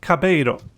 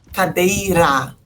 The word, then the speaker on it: cadeira: Is it cabeiro? Cadeira. Ah, I was very close. Was Cabeira. enough. Okay, Cadeira.